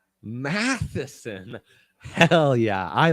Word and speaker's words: Matheson: for you all right mathson m-a-t-h-s-o-n n-a-t-h-e h-e-e-s matheson matheson hell yeah i like that that last name slaps when you pronounce it like that just like slivskovsky slavkowski